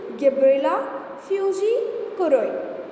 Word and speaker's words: Gibberella fujikuroi: Gibberellin were first isolated from the fungus Gibberella fujikuroi. Okay, what is the name of that fungus? Gibberella fujikuroi in 1926. Okay, learn this name, pronounce it once again along with me: Gibberella fujikuroi.